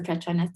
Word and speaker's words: Petronas: mentioned by nan the petronas twin towers you didn't butcher it but it is yeah it is pronounced the prachanda twin towers all the or klcc